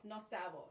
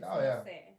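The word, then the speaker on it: no sé: Yeah, and like the no, even just the term itself, no sabo. That's not even how you say it. It's supposed to. It means I don't know, but they're saying it wrong. It's no say.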